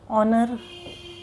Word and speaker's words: honour: वैसे ही यहाँ पे देखिए एच से लगा है सब spelling, honest, HOUR, आवर, HONOUR, ऑनर। ठीक है, तो ये ह से प्रोनाउंस नहीं हुआ इन सब वर्ड्स के। ह से इसका उच्चारण नहीं हुआ, इसलिए इसके आगे लग गया आर्टिकल एन।